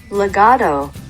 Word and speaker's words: legato: 西洋乐器的演奏法原文念成 legato。